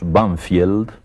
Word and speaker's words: Banfield: suburbios de Buenos Aires que nosotros pronunciamos vanfiel pero que tiene un nombre inglés banfield y ese nombre inglés